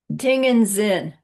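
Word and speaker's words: ཏིང་ངེ་འཛིན: Ting and Zin, spelled like this but said like that, means single-pointed concentration.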